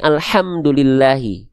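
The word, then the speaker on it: الحمد لله: seperti sebagaimana kita melafalkan alhamdulillahi kalau pakai H besar ya maknanya jauh dengan yang seharusnya alhamdulillahi ya gitu.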